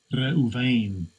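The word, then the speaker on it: רְאוּבֵן: See how you pronounce it. Strong's H 7205. Reuven.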